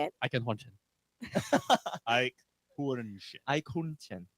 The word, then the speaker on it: Eichhörnchen: I can hunch Eichhornchen. Eichhornchen. It's Eichhörnchen.